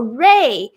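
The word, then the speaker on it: 瑞: Oh, Ray. Ri, wei, Ray. So UI is way sound. So Ray, shi, Ray, shi. This is a hard one. Switzerland. This is a hard one. Okay. Ri, wei, Ray.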